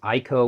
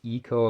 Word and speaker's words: Ico: a decent game this Ico which is actually pronounced Eco according to this uh right up here uh that one was